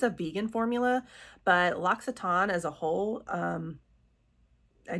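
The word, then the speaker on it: L'Occitane: It took me a while to get the hang of Loxiton. Loxiton. I was always saying Loitane.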